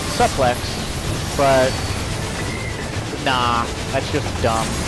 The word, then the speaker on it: suplex: Based on the word suplex is based on the French word souple, which describes the same technique. Well, that's why you say it's suplex. But according to English pronunciation rules, you would say it suplex.